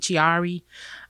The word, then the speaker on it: Chiari: I have what's called Chiari malformation, or you may pronounce it Chiari.